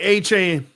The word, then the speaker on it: Achane: All right, Achane.